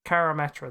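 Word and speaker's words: Karametra: name carr carmatter karmata the god of harvest carametra that's the one i need to learn how to pronounce that and you need to sacrifice this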